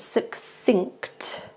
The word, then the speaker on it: succinct: And the last one, succinct, this is quite difficult because we have the ng sound at the end, so it's succinct instead.